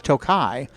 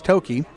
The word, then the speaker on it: Toki: the DVD of the movie now but they mispronounce it as toai so uh but it's Toki and uh it means my wife looked it